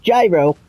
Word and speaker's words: gyro: It's not gyro when you're talking about the food. It's Greek, so it's gyro.